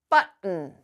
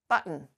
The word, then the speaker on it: button: a few more words but um but um button button button my tongue is still on the roof of my mouth rot um right um